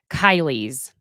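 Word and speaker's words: Kaili: boyfriend guy it was Kylie's I believe that's how you pronounce it because it's k a i l i I meant to say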